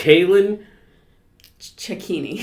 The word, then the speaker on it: Cailin Cecchini: towards the event I should have got your pronunciation of your last name uh it's Kalyn ceccini yeah that's what I was gonna say you're